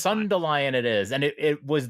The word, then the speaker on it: Sundelion: Well, it's Sundelion. Yeah, it's like dandelion. Dandelion, but Sundelion.